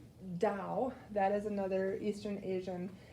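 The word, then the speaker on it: Tao: how old it is the dao looks like t-a-o that's how it's spelled but it's pronounced dao that is another eastern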